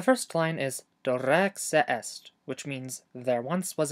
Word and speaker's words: eʔest: The tricky part here is the word est. You're going to have to pronounce the beginning of this word without closing your glottis, and then pronounce the middle of it by closing and releasing your glottis.